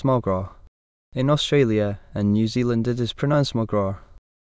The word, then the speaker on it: McGrath: In Ireland, it is pronounced MuhGrah.